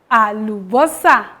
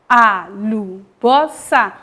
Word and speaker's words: alubosa: again AL Bosa alosa alosa that is onion in Yuba for example bring the onion bring his Ala why is bring the onion mu ala well let's pronounce it together onion alosa a Bosa onion is ala add